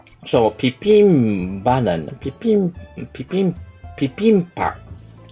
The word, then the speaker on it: ビビンバ: でこうなると日本語でではビビンバという表記がツレされが実際にはピピンパのように発音